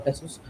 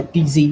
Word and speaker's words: XTZ: Oh, so that is basically the symbol that is used for representing the cryptocurrency, the native cryptocurrency for Tezos. It is actually pronounced as Tez or TZ, like however you want to pronounce it.